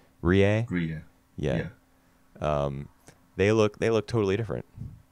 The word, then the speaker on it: Rie: Rie.